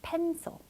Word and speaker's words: pencil: pencil, pencil. 그렇죠. 우리도 펜실 이렇게 배우지 않았잖아요. pencil. 자, 이런 식으로 해서 약한 모음이에요. 여기 뭐가 조금 빠져 있네요.